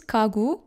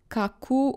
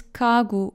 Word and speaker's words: 가구: In all other cases, when gyok is the first letter in a word, the last letter, or placed before a consonant, read it as k. So this is kagu, not kaku or gagu. It's kagu, okay?